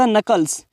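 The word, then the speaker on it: knuckles: रहते होंगे crack the नकल्स जहां पर के है उस के को साइलेंट रखते हैं तो क्रैक द नकल्स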